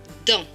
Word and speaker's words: dans: Et ce mot, c'est dents. Il est écrit D-A-N-S. A-N, ces deux lettres ensemble forment le son en. Et le S à la fin ne se prononce pas.